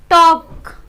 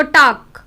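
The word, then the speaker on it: talk: जैसे कि could, टॉक, half. F से पहले हमारा जो लेटर है वो एल है और के से पहले भी, तो टॉक, हाफ।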